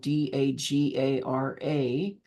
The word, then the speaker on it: Dagara: my teachers um from the dager tribe of West Africa that's spelled d a g a r a malidoma and soan Fu